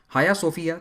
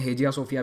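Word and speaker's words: Hagia Sophia: हाया सोफिया, जिसे तुर्की में हाया सोफिया कहते हैं, इंग्लिश में हेजिया सोफिया भी कहते हैं, ये इसकी स्पेलिंग है, हेजिया सोफिया।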